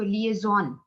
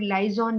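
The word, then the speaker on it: liaison: आपने, कुछ लोग लाइजॉन भी कह देते हैं इसको, लाइजॉन डिपार्टमेंट भी कह देते हैं, कनेक्टिविटी, ठीक है। बट द करेक्ट प्रोनाउंसिएशन है लिएजॉन, यानी लोगों को आपस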